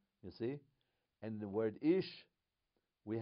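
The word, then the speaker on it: שה: then shin and hey, but the dot is on the left. So instead of she, what do we call it? How do we pronounce it? Se.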